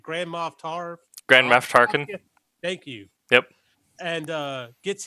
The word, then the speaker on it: Grand Moff Tarkin: Grand Moff Tarkin.